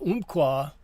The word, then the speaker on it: Umpqua: Oh, I I should do a po umpqua pronounced like umpire in the first syllable.